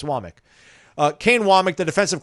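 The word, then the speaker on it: Wommack: Kane Wamik, which by the way, by the way, the last name is spelled W M A C K, which most people would want to pronounce WAC.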